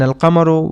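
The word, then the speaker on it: القمر: In ashamsu we do not pronounce the lam and in al kamaru we do pronounce the lamb.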